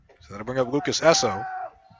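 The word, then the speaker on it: Eosso: So that'll bring up Lucas Esso. It's pronounced Esso, but it's spelled E-O-S-S-O.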